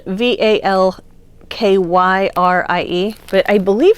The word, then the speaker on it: Valkyrie: this is called valkyrie i knew somebody who pronounced it valkari i thought that was an interesting it's it's spelled v-a-l-k-y-r-i-e but i believe it's supposed to be pronounced